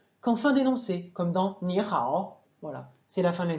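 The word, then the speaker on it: 你好: deux se change en deuxième temps par exemple ni hao qui s'écrit en pin mais il est rare en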